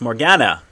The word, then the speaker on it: Morgana: It's Morgana, like Leia Organa.